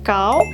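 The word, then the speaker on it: 糕: Dimana kalau dalam konteks ini, pelafalan kue atau kao bunyinya persis dengan kao yang berarti tinggi.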